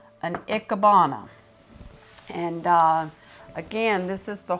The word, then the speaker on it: Ikebana: And pronounce that again for me, please. Ikebana.